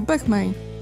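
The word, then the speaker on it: boehmei: W łacińskich słowach zbitek liter OE wymawia się po prostu jako E, czyli tutaj w tym przypadku wymawiamy to po prostu jako bechmei, podobnie jak w nazwach pecyloteria czy psalmopeus.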